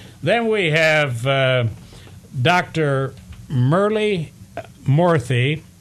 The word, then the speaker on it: Murty: Murali Murty, spelled differently, pronounced the same as the other Dr. Murty.